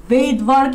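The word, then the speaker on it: Svedberg: এখানে S বলতে ভেইটবার্গ unit বলা হচ্ছে, ভেইটবার্গের একজন বিজ্ঞানীর নাম, ওনার উচ্চারণে এসটা আসে না, ওনার ভেইটবার্গ নামটা হচ্ছে এরকম, ভেইটবার্গ নামটা হচ্ছে এরকম, তো উচ্চারণে এসটা উচ্চারিত হয় না।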